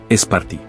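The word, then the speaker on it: Σπάρτη: Es interesante que en el griego moderno tanto el nombre de la ciudad como el del fundador mítico se pronuncian casi igual, Esparti.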